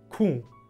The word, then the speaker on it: ku: Das wird mit einem deutlich nasalen u ausgesprochen, u. Und das ist, glaube ich, im Standardalbanischen nicht der Fall. Da sagt man dann Q, Q mit einem normalen U.